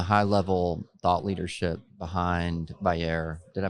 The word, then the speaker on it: Vayyar: So take us from the high level thought leadership behind VAR. Did I pronounce that correctly?